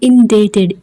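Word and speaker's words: indebted: आई एम इनडेटेड, इस यहाँ पे बी साइलेंट है।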